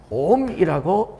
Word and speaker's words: 옴: 자, 그럼 R은 I분의 V고 R은 이렇게 오메가를 쓰고 옴이라고 읽습니다. 어때요? 네, 이분의 이름을 따서 옴이라고 읽는다.